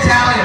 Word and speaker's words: Talia: I said Talia if you wanted to sh on my own pretending he is beside me.